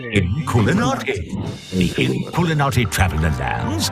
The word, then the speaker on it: Inkulinati: Inkulinati.